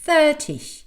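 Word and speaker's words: thirty: On dit 13 avec l'accent à la fin et 30 avec l'accent au début.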